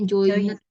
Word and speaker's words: joined: Ya, bacanya joined, bukan Oh, joined, join. oh Ada join. ininya Oh ya. iya, D-nya ketinggalan gitu ya, kayak join. D-nya ketinggalan nih di sini ya.